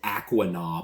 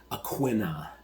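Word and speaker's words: Aquinnah: I said Aquina, but that's not right. It's like pronounced Aquina is how local people say it.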